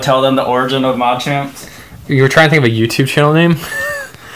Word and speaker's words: Machamp: Machamps. The Machamp Tin Week. I know we always say it wrong. You say Machamps instead of Machamp, but, you know, we like it.